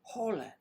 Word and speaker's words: Holland: I never realized it, so it's whole land. Whole land? It's not pronounced like that, is it? Whole land. It's Holland.